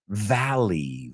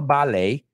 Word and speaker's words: Valley: is Death Valley in English how do we pronounce it Valley Valley no ballet Valley Valley okay and Death Valley oh man